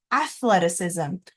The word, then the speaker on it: athleticism: Especially here, a lot of people forget this H, especially if your first language is French, because you might just hear the athleticism, but that's not how we pronounce it. It might sound like it if we say it really fast, but that's not correct. We like athleticism. So we make that TH unvoiced sound.